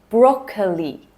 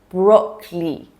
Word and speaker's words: broccoli: Number 5, broccoli, broccoli. Okay, here again, we shorten the word by removing the middle part. So we're ditching the O sound in the middle.